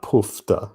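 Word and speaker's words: poofter: it's um it's pronounced poofta like as in poof as in up in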